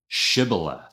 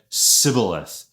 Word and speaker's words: Shibboleth: The Ephromites had a a little bit of a regional accent and they couldn't pronounce the sh, the shh sound, and instead said civilith.